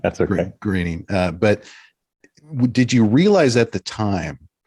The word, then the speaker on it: Groening: Matt Groening. But I always mispronounce his last name. Groening. That's okay. Groening.